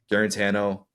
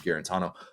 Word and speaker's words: Guarantano: it's amazing to think about how many games garano which that became the pronunciation of his name his senior year when he tried to correct all of us who we've been calling him guarantano um it's amazing to think that garant Tano